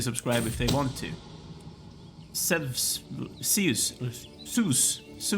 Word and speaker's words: Zeus: Zeus is the way you pronounce it. I went to the Swedish pronunciation for a second there.